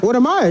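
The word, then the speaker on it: 我的妈呀: Is that how they pronounce it? WODEMAYA? WODEMAYA, yeah.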